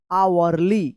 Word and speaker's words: hourly: HOURLY, आवरली। क्या पढ़ेंगे इसको? आवरली पढ़ेंगे, आवरली। यहां पे भी एच साइलेंट है।